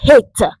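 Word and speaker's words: חית: La 8e lettre de l'alphabet hébraïque se dit la lettre Het. Là voilà, comment ça s'écrit en hébreu.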